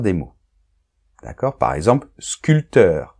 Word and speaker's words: sculpteur: mots d'accord par exemple sculpteur on ne prononce pas le p 20 on ne prononce